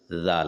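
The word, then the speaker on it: دال: अगला हर्फ दाल है जो सिंपल है। दाल आसानी से हर कोई अदा कर लेता है। जबान की नोक को ऊपर के दांतों के पीछे रखकर दाल अदा होते हैं।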